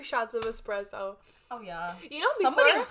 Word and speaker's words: espresso: have a shot of espresso?" I felt so dumb. But that says though. People say that. Yeah, but that's not how you say it. It's espresso. Espresso? It's espresso. It's not espresso.